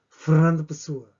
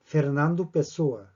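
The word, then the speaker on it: Fernando Pessoa: 프르난도 푸스워, 프르난도 푸스워, 푸스워. 이게 처음에 누군가 생각했습니다. 누군지 몰랐어요. 프르난도 푸스워. 그렇게 탁 발음해버리니까.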